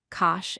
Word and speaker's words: cosh: Today, we are going to look at their hyperbolic cousins, pronounced sinh, cosh, and tanh.